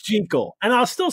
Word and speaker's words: Jekyll: Jekyll and Mr.